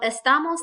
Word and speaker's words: estamos: um like I said the rule is the second to last syllable so if we count back one two that's where our stress would naturally fall so we don't have